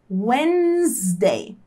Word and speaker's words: Wednesday: terça-feira wednesday quarta-feira wednesday repare na pronúncia wednesday wednesday esse d n e essas três letras aqui a gente tem que fingir que elas não existem então fica wednesday wednesday quarta-feira Friday sexta-feira Friday